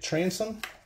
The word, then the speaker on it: Transon: That's how you say it, Transon.